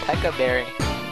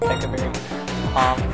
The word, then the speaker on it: Pecha Berry: Alright, now as you can see, Centipede comes with a Pekka Berry, or Pecha Berry, or however you want to pronounce it. I pronounce it Pekka Berry.